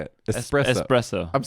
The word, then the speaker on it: espresso: to say it espresso espresso i'm saying it right then right you know you're saying expresso espresso that's right that's better so i forgive you